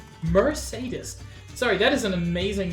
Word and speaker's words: Mercedes: you by hi Keck uh hello Merc Mercedes oh Lord I uh mercades Mercedes sorry that is an amazing name you're clear